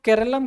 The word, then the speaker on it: Keralam: दूसरी चीज़, अब ये देखिए, यह इनका यहाँ पे रीजन है कि मलयालम में इसको प्रोनाउंसिएशन केरलम के रूप में करते हैं, मगर